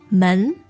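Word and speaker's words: 门: word door please Jenny men men now that sounds to me like a second to that's right now uh and so the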